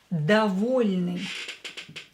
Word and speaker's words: довольный: Here we have мягкий знак, so L letter should be more softer. Доволь, not довол, довол. No, it's доволь, довольный.